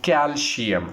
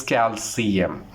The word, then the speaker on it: calcium: So the first word is calcium, which is incorrect. The correct pronunciation is calcium.